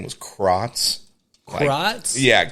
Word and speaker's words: Crotts: Oh, but God damn, thank God he changed his name because the last name was Krotz. Krotz? Yeah, Krotz. So it's funny because spell that?